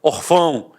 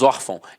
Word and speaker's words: órfão: fumar eu falei a órfão e não é o caso nós falamos órfão então a sílaba tônica está na penúltima e é acentuada o